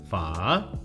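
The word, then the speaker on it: phở: Pho. Oh wow, see, I understand why people think you're Vietnamese now, because your pronunciation is actually really good.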